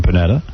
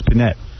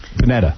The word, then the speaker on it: Panetta: You gave him an extra syllable. Oh, I see panette cuz he's got the e at the end. It's panette. Panetta. You made him eye tie. Yeah, it probably is Panetta.